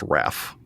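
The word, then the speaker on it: Hrafn: It's actually spelled H-R-A-F-N, but it's pronounced Raph, Weird.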